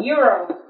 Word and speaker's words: euro: Thứ hai là mình có đồng euro. Cái từ euro nghe rất giống từ years old.